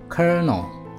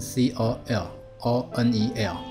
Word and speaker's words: colonel: 十页了，第三个字，kernel， kernel，这个发音比较特别哦。你看它这个拼字是 c o l o n e l，可是它是有个有这